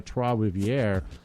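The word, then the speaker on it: Trois-Rivières: that is at uh three rivers or as we would say in canada troivierre or trey trey isn't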